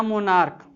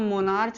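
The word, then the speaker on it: monarch: और एक लिख लेते हैं, जैसे कि मार्च, सॉरी मार्क, या मोनार्क। ठीक, अब इसको भैया हम मोनार्च तो नहीं पढ़ेंगे, इसको आर्च तो नहीं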